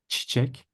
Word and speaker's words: çiçek: tail under it, and this is the one that you have to pronounce sharp. It's che. Çiçek.